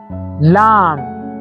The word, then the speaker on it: lamb: How about this one? Lamb. Because both have MB cluster at the end.